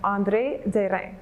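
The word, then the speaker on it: André Derain: on an artist named andre de rein that's the french way to pronounce it i get andre durang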